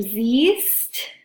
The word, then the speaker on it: siehst: Our second pattern is an E to an IE. So this happens in verbs like sehen and lesen, all right? So again, we can draw Oklahoma. Inside of Oklahoma, everything's conjugated regularly. Outside of Oklahoma, it becomes du siehst and er sie und es sieht.